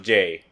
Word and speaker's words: eaJ: So this is Jay from Day 6, or with how he spells it when he goes solo, is each, but it's still pronounced Jay.